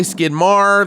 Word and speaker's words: Maher: I'm so it's pronounced Maher. Some people say Skidmar. That's also acceptable, right?